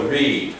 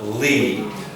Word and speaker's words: lead: Lead, not read. Lead.